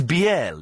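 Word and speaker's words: Biele: the best most entertaining person to call is be it's spelled b i e l e it's pronounced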